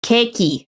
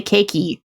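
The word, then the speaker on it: ケーキ: If you're in Japan, say keiki. You think you're being like rude or like, oh no, I'm copying the accent or whatever. It's like, no, but if you don't say keiki, they don't know you're talking about cake.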